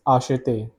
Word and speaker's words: acheter: This is acheter. Acheter is the pronunciation of this verb, which means to buy.